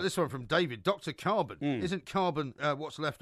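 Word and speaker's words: Karban: Yeah, carbon. No, I don't find that a coincidence because his name is spelled K-A-R-B-A-N and carbon is C-A-R-B-O-N. Yeah, but it's pronounced the same.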